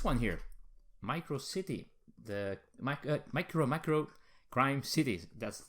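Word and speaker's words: MicroMacro: Crime City: But the winner was this one here, Micro City, the Micromacro Crime City. That's how you pronounce it.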